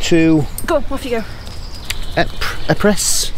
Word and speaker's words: Ypres: Epres. Ypres. Ypres. I know it, but I just can't keep saying it. Because it's spelt with a Y to start with.